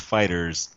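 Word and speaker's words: FighterZ: like hey it's pronounced fighters not fight fighters E or fighters at the lek come on it's fighters fighter with a Z you know yeah um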